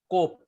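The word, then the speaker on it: קוף: Next is and the transliteration of cope is Q and not K. Q, not K. How will you pronounce Q? Cope. Q in queen.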